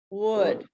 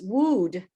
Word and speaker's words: would: took English in Brazil, he was taught that the pronunciation of this word was wood, like the same sound in food.